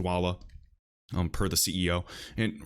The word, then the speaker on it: Dwolla: a also Dwolla no surprise and yes it's pronounced Dwolla um per the CEO and right here guys